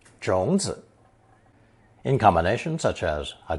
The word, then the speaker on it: 种子: Notice that when used alone to mean a seed or seeds, 种 adds the character zi for clarity and gives zi its full third tone pronunciation, 种子.